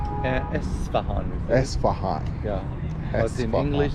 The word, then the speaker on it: Esfahan: So you pronounce it Esfahan. Uh Esfahan. Esfahan Yeah. But in English, they call it Isfahan.